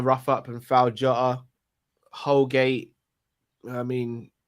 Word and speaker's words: Holgate: up and foul jotter holgate i mean his name rhymes with colgate that's the best i